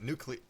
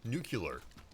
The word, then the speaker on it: nuclear: welcome Peter nuclear goddamnit nuclear nuclear winds me up when it's pronounced nucular yeah what's another version